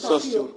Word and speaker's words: Saussure: ¿Cómo se pronuncia el autor? ¿El qué? El autor, ¿cómo se Saussure. Saussure.